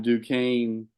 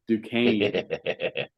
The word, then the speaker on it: Duquesne: it goes all right I'll say their name right this time Duke Kan versus Illinois um I was saying Duquesne like how it's pronounced I was going syllable by syllable duain Illinois has lost in